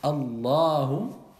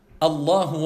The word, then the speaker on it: Allahu: d'Allah Tabaraka wa Ta'ala, vous allez prolonger un peu. Vous n'allez pas dire Allahu. Allahu.